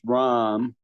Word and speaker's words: ram: The third chakra is ram. What? How could you spell that? Third chakra. Ram. Ram. Ram. R. Okay. As in the deity.